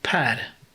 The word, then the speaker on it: Per: least so now it's now it's uh it's pear's turn all right am i saying that right by the way it's pad if it doesn't rhyme with cow or